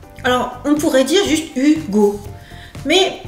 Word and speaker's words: Hugo: Alors, on pourrait dire juste Hugo, mais comme il y a un H en français, le H il est muet, on le prononce pas Hugo. Mais ça pourrait être par exemple en anglais Hugo.